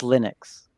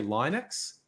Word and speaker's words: Linux: uh i and i actually i used to say linux because his name's linus and but based on what he said i ended up saying linux so yeah but also i think the fact of his accent doesn't categorically answer it because he's saying it in a scandinavian accent he's going linux and just like that in english that doesn't answer the question but i guess it